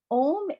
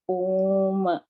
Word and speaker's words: Om: So Om is a Sanskrit word, and when you break it, it's three vowels. It's A, U, and Ma.